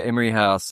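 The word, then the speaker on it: Imrie House: Is it Emery House? I want to make sure I'm pronouncing this correctly all these years later. Yeah, Emery House.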